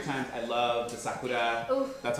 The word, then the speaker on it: sakura: I love the sakura. Oof. That's how they say it in Japan. That's how they say cherry blossoms. Sakura. Yeah, but every year I go to the cherry blossoms in Salem.